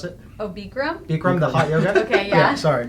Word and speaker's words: Bikram: a bodybuilding contest I try Berko is it burcham or brigham is how you pronounce it Oh Bikram from the hot I'm sorry gosh so we